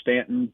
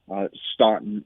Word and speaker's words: Staunton: Yeah, if you're from here, you know it's Stanton, but anybody outside the area, Staunton is the way they normally pronounce it. But trust me, people in Stanton are quick to correct you if you say Staunton.